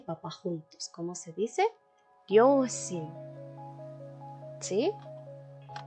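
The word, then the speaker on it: 両親: Ryoshin. ¿Sí? Ryoshin. Cuidado con el no es ryo, no, eso no existe, es ryoshin, así sencillo.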